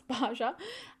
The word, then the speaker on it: Baja: so I'm gonna take baja pronounce Basha it's a beautiful rich